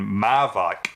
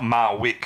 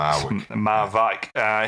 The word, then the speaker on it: Marwijk: It's Bert van Marwijk is how you apparently pronounce it. That's how you pronounce it. Yeah. Right. Okay. Not Marwick as it sort of looks. Marwijk.